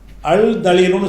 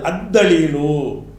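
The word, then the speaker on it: الدليل: அல் போடுறீங்க அல்ஹபரு மாறவில்லை அதுக்கப்புறம் தலீலுன்னு இருக்கிறது அதுல நான் அல்ல சேர்க்கிறேன் அல் தலீலுன்னு சொல்லக்கூடாது அத்தலீலு மாறிக்குது திக்ருங்கிற வார்த்தை இருக்குது இதுல நம்ம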